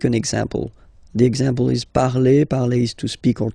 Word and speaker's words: parle: And then the way to pronounce it is je parle, parle. So remember, we put it, okay, but then we don't really pronounce it.